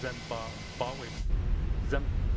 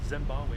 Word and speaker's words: Zimbabwe: I never fly out of Zamba Z. I'm saying it wrong. Zimbabwe before.